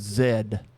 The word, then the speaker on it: Z: Keeping eggs in the refrigerator, pronouncing the last letter of the alphabet as Z. Yeah, everybody else says Zed.